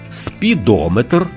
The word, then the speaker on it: спідометр: запам'ятати ще один нюанс якщо компонент метр містить назви вимірювальних приладів то наголос там незмінно припадає на голосний звук що передує цьому компонентові барометр спідометр термометр дозиметр А тепер уважно послухаймо